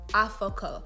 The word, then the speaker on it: Aforkor: It's spelled Aforkor, but it's pronounced Afoko. So if you can imagine, anytime someone sees my name written, it's like Aforkor, Aforkor, like they can't say it right for the life of them.